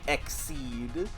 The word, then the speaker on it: Xyz: a by the way cuz it's meant stop saying lies to me it's meant to sound like exceed cuz you are don't